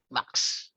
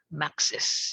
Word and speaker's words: Max's: A lot of people I know, ang pronounce nila dyan ay Max Fried Chicken. Max. Max Fried Chicken, di ba? Pero ang tama ay Max's.